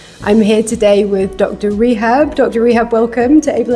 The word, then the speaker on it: Rehab: Rehab is a very Arabic name, so the English pronunciation is usually a little bit funny. It's Rehab. If you're unfamiliar with the Arabic language, you'll be pronouncing it this way, which is a bit funny because this is kind of my profession, which is rehabilitation.